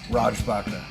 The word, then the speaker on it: Raj Bhakta: as you're pouring that, can I hit up Raj Bhakta? Greetings, sir. Did I get it right? Roughly. Oh, very good. How do you say it correctly then? Raj Bhakta.